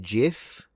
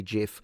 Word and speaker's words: GIF: Will it is adamant about pronouncing GIF like the peanut butter? Well, if he made the thing though, I mean, maybe he's right then. I suppose I'll say GIF.